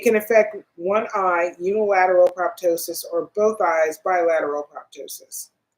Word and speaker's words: proptosis: PROPTOSIS. Spell it again.